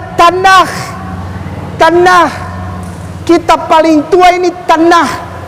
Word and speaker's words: Tanakh: Ya, dibacanya Tanakh.